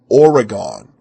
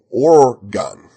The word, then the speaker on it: Oregon: a Western accent but he mispronounced organ he said Oregon and Oregonians say or gun and he says it